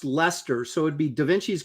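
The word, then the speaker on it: Leicester: Henry beam is correct he says says this pronounced Lester so it' be da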